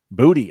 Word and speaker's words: Boutte: Booty. I'm sorry. That's right. We got the correct pronunciation. Booty. Finally Booty, got booty, booty.